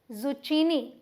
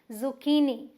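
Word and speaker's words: zucchini: important turn जिसे की अगर आप बोल दें जुचीनी तो गलत हो जाएगा यहां पर ये जो छ है इसे हम के प्रोनाउंस करेंगे तो ये क्या है जुकी नहीं और स्ट्रेस कहां दे रहे हैं देखिए की पे जू की नहीं नो जुचीनी और ये कुमड़े जैसी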